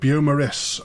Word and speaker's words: Beaumaris: I went too French with Beaumaris, a word the Welsh had clearly reclaimed at some point, and while it looks French, you just say what you see.